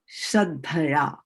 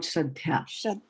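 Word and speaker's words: śraddhayā: Right. Shraddhaya, not Shraddhya. Right?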